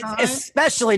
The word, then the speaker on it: especially: It's especially, not especially. Yeah, Especially. There's no X in especially.